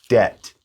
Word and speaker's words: debt: Debt.